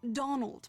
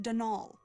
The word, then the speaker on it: Donal: that was the caretaker Donal Delaney not Donald mind you there's no D at the end so it's pronounced danal that's the way you're